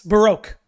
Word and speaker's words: Baroque: degree that's important so Baro Baroque that yes Baroque I got it right Baroque I said it